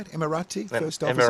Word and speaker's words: Emirati: Kiwi captains, a Kiwi first officer and an Emirati. Is that how you say it? Emirati first officer? Emirati, yeah.